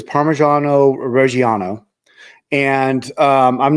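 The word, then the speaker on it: Parmigiano Reggiano: okay so it's uh the way it's pronounced is parmesano Rano and um I'm not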